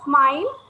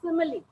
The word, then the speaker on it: simile: to be the simile it does not smile it is called as a simile you have to pronounce it as simile you should not call it as a smile you have s-i-m-i-l-e so you call it